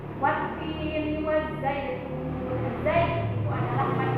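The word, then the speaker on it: والتين: Wattini kita baca 2 harakat karena ada ia bertemu dengan kasroh, itu dinamakan mad tabi'i. Wattini wazzaitun.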